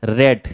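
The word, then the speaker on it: read: John Donne study law एंड रेड। यहां पे रेड क्योंकि पास्ट में है, रीड का सेकेंड फॉर्म है, इसलिए मैंने रेड बोला। स्पेलिंग सेम होगा लेकिन प्रोनाउंसिएशन बदल जाएगा, इसको रेड पढ़ेंगे।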